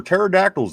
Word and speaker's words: pterodactyl: Somber pterodactyls. Then pterodactyls. Is that? I never knew that was how that word was spelled. Pterodactyl says the P is silent.